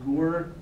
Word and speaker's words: Gur: There's also another term that is not related at all called a gur chassid. And it's sometimes pronounced as ger, a ger chassid.